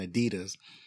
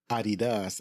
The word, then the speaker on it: Adidas: Obviously, in America, we pronounce Adidas as Adidas.